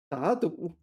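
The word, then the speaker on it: 打赌: 打赌. Wow, alright. 打赌. 打赌. 我跟你打赌. Sorry, I've been mispronouncing this a long time.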